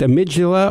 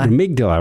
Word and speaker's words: amygdala: Is it pronounced amygdala or amygdala? Amygdala, right? We have a South African friend who's a doctor, so that's what throws me, and he insists on saying amygdala, which sounds like a chipmunk to me.